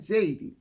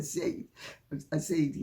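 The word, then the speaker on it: Ziadie: they say in Jamaica, a Zaidi, or as they say over here, a Zaidi as well, or sometimes a Ziadi. In fact, when I'm giving my name over the phone, because it's phonetically closest in English, I say Ziadi, but it's... So there's no doubt that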